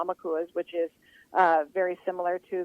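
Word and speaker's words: ʻaumakua: Would you please share it about and let me see if I'm saying it right, Amakua, which is, correct.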